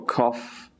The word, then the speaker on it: cough: It can also sound like, don't ask me why, but it can make an F sound, as in rough or cough or tough. Here it becomes F.